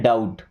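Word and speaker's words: doubt: ओ यू बी टी हालांकि यहां पे बी साइलेंट है इसे हम पढ़ते हैं डाउट क्या पढ़ते हैं डाउट इनको देखिए सी ओ यू एन टी इसे पढ़ना है काउंट।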